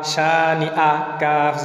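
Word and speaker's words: شانئك: জবর কা, শানি আকা, শানি আকা না পড়ি তাহলে আইন হবে এবং উচ্চারণ সঠিক হবে না, সঠিক উচ্চারণ লক্ষ্য করি, শানি আকা হলকের শুরু থেকে, শানি আকা, আর আইন হলে হলকের মধ্যখান থেকে উচ্চারিত হয়।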